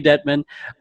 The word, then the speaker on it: Dettman: today we're featuring one of our dancers, Dettman. Did I say that right? I feel like I've never said your last name before. No, you said it right. Okay, Dettman.